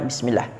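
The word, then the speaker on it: بسم الله: kalimat bismillah Bismillahirohmanirohim pertama pada kalimat Bismillah di situ terdapat Sin sukun ya jadi bacanya dihamaskan Ya hukumnya hams jadi penyebutan sim-nya harus mengalir ada di Sis hembusan nafasnya ya seperti itu jangan bis jangan terlalu sedikit tetapi mengalir ya minimal 2 detik lah bis seperti itu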